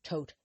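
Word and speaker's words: Thoth: She drew the writerweight Smith and later Lady Freda Harris who also who was the artist of the tote deck otherwise t h o t pronounced tote the tote deck which she created with Alistister Cruy.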